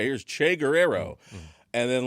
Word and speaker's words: Guerrero: I'll be like Guerrero, and then be like, it's Guerrero. You know what I mean? Like I don't like I should say it the way it is because I know how to say it in Spanish.